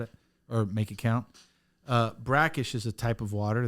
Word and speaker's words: BRCKSH: Not Bakirsh. Yeah. You say brackish, but you spell it Bakirsh.